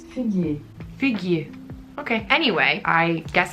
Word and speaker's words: figuier: In French it's figuier.